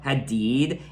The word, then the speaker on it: Hadid: and off relationship Tesfaye has with model Bella Hadid. And yes, I finally pronounced her last name correctly.